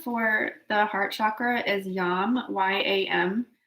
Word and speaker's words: YAM: the heart chakra is yum why am it looks like yam but it's pronounced with a long a and I had been